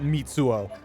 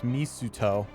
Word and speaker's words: Mitsuo: whip cracking itself at mitsuo i keep saying his name wrong it's misuto there's a misto please let